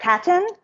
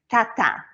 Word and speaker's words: Tatin: we do hear tart Tatton um but in French most of you know probably that last syllable when it's a consonant doesn't get pronounced so it's Tata so no n at the end um we believe that